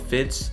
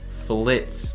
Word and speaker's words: Fitz: it there's no way i called fitz flitz for five years the only reason i knew i was saying it wrong was because at a